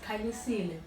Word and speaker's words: Khanyisile: It's like, I'm just Khanyisile. You don't have to say the Qha. Yeah. It's Khanyisile.